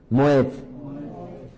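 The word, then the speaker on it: מועד: Pronuncien conmigo, moed.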